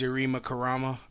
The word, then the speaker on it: Yarima Karama: It's spelled YARIMAKARAMA. Yarima Karama. It's pretty much spelled how it sounds.